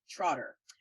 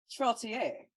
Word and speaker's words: Trottier: It's very easy to miss the I in his name and just want to call him Trotter. But his name is Mr. IAN Hamilton Trottier.